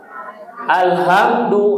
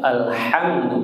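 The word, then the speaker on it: الحمد: Alhamdu yang betul alhamdu bukan alhamdu.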